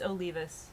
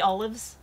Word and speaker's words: Olivas: It's Olivas. She's gonna be mad at you. I'm gonna pronounce it wrong because she pronounced my name wrong for years. I'm sorry, Kathy. So Kathy Olives.